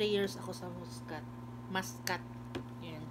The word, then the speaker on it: Muscat: Muskat yung pronounce nila.